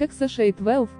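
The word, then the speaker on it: X Æ A-12: По словам Маска, оно читается как XA12, и в нем есть отсылка к любимому самолету миллиардера Lockheed A12.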